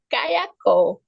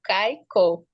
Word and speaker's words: Caicó: A palavra Caicó, vem da nossa língua, quer dizer crá, Kei, Kuo, Kei é rio, Kuo, gavião. Aí, como o europeu não sabia pronunciar, ele pronunciava Caiacó. Aí depois ficou Caicó.